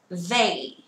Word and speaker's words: they: They. They. They. They. Đúng không ạ? Không đọc là dây dây dây dây. Nhớ nhá, không đọc là dây dây nha. They. Thò lưỡi ra ngoài.